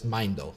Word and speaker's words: Meindl: Most people want to add an extra syllable. Meindl. Yeah. I've gotten Meindl a lot, Meindl even, but it's Meindl.